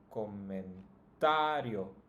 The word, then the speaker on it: comentario: In this case, it's always going to be the second to last. So if we count starting from the end, this would be the first syllable, yo, and the second one would be sa. So that's the one that should be pronounced the strongest.